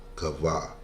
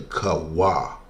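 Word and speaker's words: Chavah: Kavah, right? But it's really Kawah.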